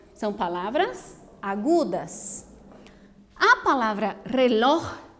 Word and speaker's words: reloj: Importante, la última sílaba es la fuerte, pero no termina em NS o vocal, por isso não lleva tilde, tá bem?